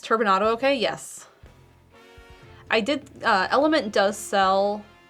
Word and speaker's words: LMNT: Is it pronounced Element, I think? It's LMNT.